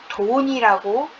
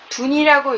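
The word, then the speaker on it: 遯: 그래서 본래 이 글자를 돈이라고 읽는 경우도 있습니다. 64괴 중에 세 번째 괴인 술의 둔괴가 있죠. 여기서 이 둔을 준이라고 읽고 33번째 괴인 천산둔괴를 천산돈괴라고 부르기도 합니다. 둔이라고 읽든 돈이라고 읽든 이 괴에 해당하는 둔자는 22자의 의미입니다.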